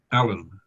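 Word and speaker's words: Alain: record Allen is is spelled by the gentleman a l a i n but it is pronounced Allen is that correct Mr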